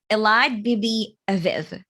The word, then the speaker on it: Elad Bibi: than the co-founder and the ceo at covery elad bibi hello allied yeah you managed to to pronounce my name correctly it's a success already